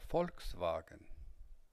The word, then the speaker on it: Volkswagen: falch der wagen der volkswagen they pronounce the l in folk and the o sounds differently der vagan the cognate